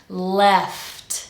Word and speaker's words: left: left they left now make sure you pronounce the whole consonant cluster L left and because this T is part of a consonant cluster it's not a glottal stop it's a proper T sound they left and now